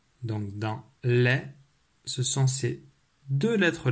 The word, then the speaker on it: lait: de suite comment s'écrit le mot l'est laisse écrit avec quatre lettres elle a é té le thé à la fin et muet c'est à dire que